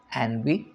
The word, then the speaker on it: ennui: It's a French word, ennui, life weariness, Ennui, pronounced ennui, life weariness.